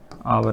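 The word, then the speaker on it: hour: और हमने पिछली क्लास में देखा था जो आवर है उसमें एच है वह वो क्या रहता है? साइलेंट इसको प्रोनाउंस करेंगे आवर नाम से।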